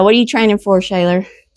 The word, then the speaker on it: Shealor: Shayaylor, right? Is how you pronounce it.